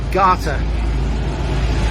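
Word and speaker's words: gata: for street is gate they didn't pronounce it gate though i think that's an english thing but uh it was pronounced garter but it's uh you know garter being the old viking you see a street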